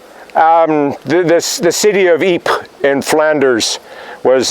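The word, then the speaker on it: Ypres: this the city of Eep and Flanders was better known to British and Canadians as wipers because that's always y-p-e-r-s how do you pronounce that well that's wipers of course in fact there was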